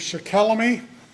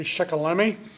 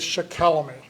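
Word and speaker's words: Shikellamy: Um his father was Shaquelamy who lived at Shimoken and that is the correct pronunciation. For all these years it was thought to be Shakalemi but some recent research in the Conrad Wiser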